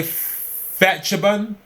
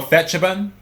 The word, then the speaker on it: Phetchabun: I'm going to say Phetchabun, P-H-E-T, so I'm guessing that's Phet. So Phetchabun province was raided by police and health officials on Monday.